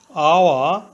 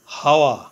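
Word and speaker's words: hour: আওয়ার আওয়া অর্থ ঘন্টা এখানে আওয়া এর প্রথমে এইচ কনসোনেন্ট এইচ এর উচ্চারণ হয় বাংলা হ এর মত প্রথমে এইচ ধরে উচ্চারণ করলে হয় হাওয়া কিন্তু এইচ এর উচ্চারণ না হয়ে ভাওয়েল ও থেকে উচ্চারণ শুরু হয়েছে আওয়া এইচ এর উচ্চারণ অন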